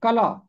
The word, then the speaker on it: कला: और दूसरा लफ्ज है कला। इसका दुरुस्त तलफ्फुज कला है।